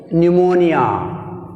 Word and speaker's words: pneumonia: Next 40 word, pneumonia. Pneumonia. Which is silent?